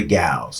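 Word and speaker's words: gaol: of Corrections the Liberty gals and the town gals and when I say gal it sounds like jail but it's it's a gal it's spelled g a o what exactly are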